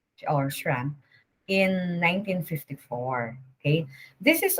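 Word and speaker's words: Schramm: shrams interactive model so you pronounce this tram okay this model is proposed by wilbur's uh scram or sram in 1954 okay this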